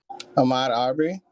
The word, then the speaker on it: Ahmaud Arbery: Oh my god, I can't pronounce his name. The man who died in Georgia. Does anybody remember his name? Ahmaud Arbery.